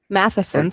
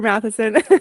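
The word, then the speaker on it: Matthiessen: A longtime student of, is it Peter Matheson, sorry. But Thank you. most people pronounce it the way you do if they've never heard it before. So no problem. Sorry, Peter Matheson.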